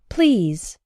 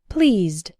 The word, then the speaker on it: pleased: the pronunciation is different the words please and the past participle or adjectives pleased have the EE sound the same as in the words see read and keep pleased pleased but the words pleasant